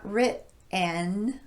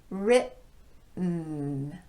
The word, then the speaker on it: written: Written, not written, but written.